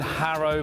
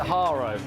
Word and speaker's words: Haro: Right in Harrow Bikes. Actually, I grew up my big brother had a Harrow BMX when I was a kid. You actually pronounce it Haro.